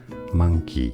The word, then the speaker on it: monkey: So it's an A sound, a schwa sound, not an O sound. Monkey, monkey.